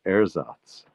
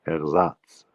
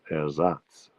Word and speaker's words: Ersatz: Kirsten pointed out that I mispronounced the word Ersatz. That's how we say it in English, but in German it's Ersatz. The stress is on the Satz. So it's Ersatz.